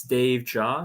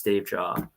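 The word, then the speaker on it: Davejia: have uh my my Tick Tock is it's Dave jaw so its d-a-v-e-j-i-a same with my Instagram same with my YouTube channel it's all it's Dave jaw yeah oh I think I pronounced your last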